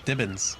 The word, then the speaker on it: Dibbins: So it's just Constable Dibble now, right? Dibble? Dibbins. Constable Dibbins. I had his name wrong.